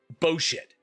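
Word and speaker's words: בֹּשֶׁת: It's literally spelled Bosheth, but it is pronounced Boshit. Boshit. That is how it's pronounced, and that's the funniest shit in the world to me, but that's beside the point.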